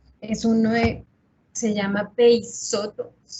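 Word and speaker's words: Peixoto: Se llama Peisoto. Peisoto se escribe con X.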